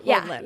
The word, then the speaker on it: Hland: So think like Iceland. Okay. Iceland. Hland. Yeah.